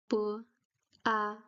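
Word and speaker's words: 八: The difference is that the B sound in Chinese is more closer to a P sound. You don't uh blow air out of your mouth, but the lips are really strong when you pronounce the B. You can hear that it's stronger than the English B.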